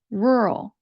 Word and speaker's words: rural: With my accent, the sound that I use is like from the word earl. An earl is someone who has a rank of nobility in the United Kingdom, and that word is spelled Earl, earl. And that's the sound that I use when I pronounce rural.